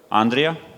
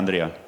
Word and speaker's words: Andrija: Okay, first speaker for today, Andrija. Says Andrew, but it's actually Yes. Andrija.